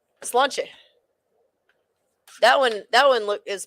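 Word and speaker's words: Sláinte: How's that pronounced? Slanche.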